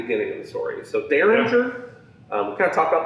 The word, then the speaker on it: Derringer: started it all between kabe and heather so derringer if you look at the way this is spelled it's spelled dare rare we call it